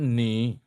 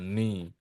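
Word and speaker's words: 祢: Nah, ini bacanya tetap ni. Cuman untuk mengetik atau untuk itu memang sering muncul mi jadi ya. Untuk membedakan saja ni.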